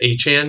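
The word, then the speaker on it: Achane: I mean, they have Travis Achan now, I don't know how to. He apparently said his last name is pronounced Achan now, so we have two Achans.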